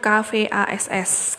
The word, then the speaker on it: kvass: Tulisannya KVASS, kvass itu bacanya.